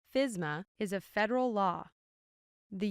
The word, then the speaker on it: FSMA: The Food Safety Modernization Act, commonly shortened to FSMA and pronounced FSMA, is a federal law.